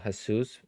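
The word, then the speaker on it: Jesús: same uh what about Jesus is hesus all every single um J is pronounced with the H so that's every J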